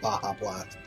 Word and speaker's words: Baja Blast: He said Baja Blast. But that's the thing. Boja is a place in Final Fantasy XIV, so it's appropriate. Yes, I am aware it's supposed to be pronounced Baja Blast.